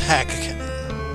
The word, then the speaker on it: Drakkhen: Yes, it's pronounced Drakkhen.